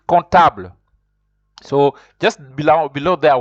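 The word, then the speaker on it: comptable: don't you don't pronounce you don't pronounce com comfortable you say contab c-o-m-p-t-a-b you could pronounce it contable so just below below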